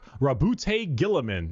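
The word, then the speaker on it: Roboute Guilliman: Primarch Rabute Gilliman. That's how it's said.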